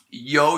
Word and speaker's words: 又: Yo, yo. Yo, what's up? Yeah. Actually, this is not how you spell yo. It's spelled like this, Y-O-U, fourth tone.